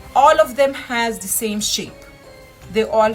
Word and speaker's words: ح: no doubt at all ha ha comes exactly from the middle of the throat this is a one of the most difficult letters for non-arabs to pronounce it's a scratchy sound of the letter you're bringing it from in to out and then out with the air you literally have to scratch your throat and then come out